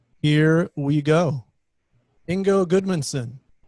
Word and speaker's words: Ingo: iceland and and here call me ingo which is like like bingo and they'll be very